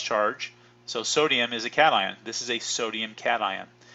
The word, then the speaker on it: cation: there's two types there's cation this is pronounced cat ion not keishon do not pronounce occasion